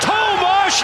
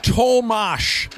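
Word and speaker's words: Tomáš: Tomas Hurdle! Then it's 5-4 Vegas with 3:24 to go. Tomash is how you say the first name. I thought it was Tom Hurdle. It's not. Yes, it's weird.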